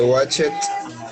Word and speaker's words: watched: Yes, I watched cartoons when I was child. I mean, my favorite cartoon was the Pink Panther. Okay, only the pronunciation. Emmanuel, you said watch it. It's watched.